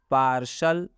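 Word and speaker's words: partial: जैसे एग्जाम्पल में है पार्सल, तो इस टी के बाद IA है। पार्सल का मतलब होता है आंशिक। यहाँ पर टी के बाद IA है इसलिए टी का उच्चारण तलाबे स हुआ है।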